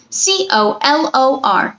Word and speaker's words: color: C-O-L-O-R, color. Schwa sound for the first O, and then sound for the second O.